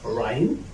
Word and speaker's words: rhyme: But also I cannot pronounce it after or, such as rhyme, rhyme, rhyme, or such as rhythm, rhythm, rhythm.